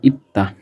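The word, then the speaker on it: 이다: সেটা হচ্ছে খাটা খা আর ইত্তা। ইদা যদিও এই ইদ্দার উচ্চারণটা কোরিয়ান ল্যাঙ্গুয়েজের প্রোনাউন্সিয়েশনে ইতা ইউজ করা হয়।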